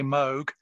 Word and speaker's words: Moog: general manager for the moog aircraft business here in dukesbury uh interestingly bill moog is how he pronounces his name so when we're talking to the americans we say moog but in the uk